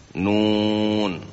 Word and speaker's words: Nun: Nun bukan na.